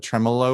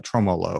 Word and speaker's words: tremolo: used to say like tromolo or tromolo i can't even remember what i used to say but it was bad and wrong tremolo maybe tremolo i